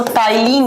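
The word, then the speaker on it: ptyalin: यस इसका दूसरा नाम होता है बच्चों टाइलीन अमाइलेज़। पी से लिखा जाता है टी से प्रोनाउंस किया जाता है।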